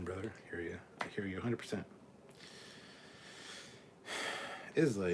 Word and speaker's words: Islay: Islay is pronounced Isla. It's a Scottish island.